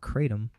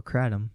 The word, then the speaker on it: kratom: uses a plant called kratom or kratom depends on how you want to pronounce it which is of